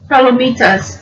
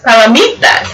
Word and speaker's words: palomitas: That is actually says popcorn in Spanish, which I'm not even going to try to pronounce. Palomitas? Palomitas. Palomitas.